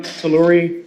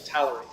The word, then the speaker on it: Talluri: Did I get um Tori correct? Uh you did not, but you pronounced it the same way I would have as well. It's actually Talorie. Tallery.